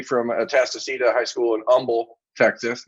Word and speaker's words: Humble: atastocita high school in humble texas not humble everyone it's a silent h uh and ernest greene